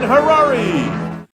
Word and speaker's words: Harary: I'm Mark Summers, and now, here's your host, Harary. Hello, everyone. Welcome back to From Hollywood, it's Paranormal Tonight. I'm Harary, rhymes with Ferrari.